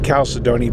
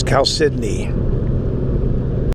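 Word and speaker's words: chalcedony: blue wagon blue again we've been saying calcidone but we found out the proper pronunciation is cal sydney you can see there's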